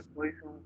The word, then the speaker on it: Poisson: Si bien cierto se escribe Poisson, pero su pronunciación es Poisson, ¿no?